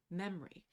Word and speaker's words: memory: an example in the the difference between the spelling and the pronunciation of the word memory where the O is no longer typically pronounced but it is still spelled within the inscription on the